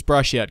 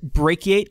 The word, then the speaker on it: brachiate: of the suggested usernames which was brush at Cub which is actually pronounced brachiate Cub for those of you who don't know the word is brachiate hey it's you what's